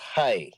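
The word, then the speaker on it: חי: today I was called it's spelled like childlike chai tea but it's pronounced hi in Hebrew okay and it's so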